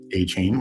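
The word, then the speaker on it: Etienne: And when I say A-Chain, I don't mean Travis A-Chain, which is apparently how you pronounce his name, the former Jags new Saints running back.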